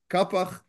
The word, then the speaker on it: Qafiḥ: our purposes right now here in Israel we are used to the pron pronunciation Kapak and if it is